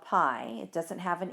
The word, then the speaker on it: pi: It's a Greek letter, and it's pronounced pi, P-I.